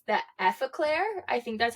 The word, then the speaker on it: Effaclar: I didn't even say the name, so it's La Roche-Posay and it's the Effaclar.